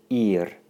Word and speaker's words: ir: Ir, ir, ir. Your turn, and try and trill the R a little bit.